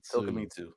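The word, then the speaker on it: Tokimitsu: Tokamitsu.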